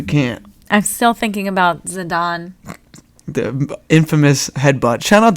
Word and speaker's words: Zidane: asking for confirmation on if I pronounce his name Yeah, right. you And said then it you're right. like, whatever. Zidane. Zidane, yeah.